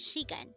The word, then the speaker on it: 시간: For the first syllable, shi, we need to draw first a siyot character followed by an e character.